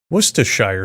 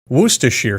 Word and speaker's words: Worcestershire: Worcestershire sauce, Worcestershire sauce, Worcestershire sauce. All of these pronunciations are acceptable, as are the endless ways to use this condiment.